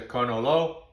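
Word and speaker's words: cannolo: singular is canola and in fact we've all been pronouncing in america the plural wrong it's not cannoli it's connolly so one is a conolo and more than one are conoli now another problem comes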